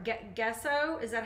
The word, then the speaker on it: gesso: my regulars know this gesso that's how you say it okay gesso gotcha thanks vicky k